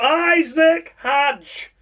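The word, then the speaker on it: Isack Hadjar: Just outside the points and finishing in 11th place, we come to Isaac Hajj is the Haj. Great effort, David Croft, as always for your pronunciation on Isaac Haj.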